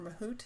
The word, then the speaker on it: Mahout: HBase, Hive, Pig, and Mahout, or Mahout, it's pronounced. It depends on where you come from, I guess.